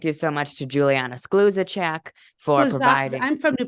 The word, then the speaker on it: Skluzacek: Thank you so much to Juliana Skluzacek for providing. I'm from New Prague, so I know how to say that name. It's Skluzacek. Easy for me. It's Skluzacek.